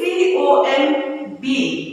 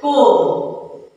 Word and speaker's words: comb: Now first one you can see C-O-M-B. B is highlighted there. Okay. So how do you pronounce this? It is comb.